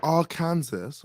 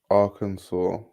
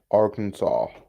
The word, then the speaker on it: Arkansas: you're not going okay is it pronounced R Kansas or ar or are those two different places how how do how do we get that pronunciation how does what happened there Arkansas Arkansas wait I's hating on